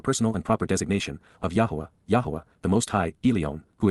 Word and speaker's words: Yahowah: be familiar with and respect, Hyphal imperfect Jussive, Yahowah, the proper pronunciation of the name of Eloah, God as